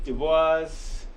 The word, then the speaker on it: Du Bois: 3M cubed so Delaney Dubois the voice is how we usually we don't use the French pronunciation as America which would be Dubois but Du Bois is what Americans usually call him so fine okay Simplex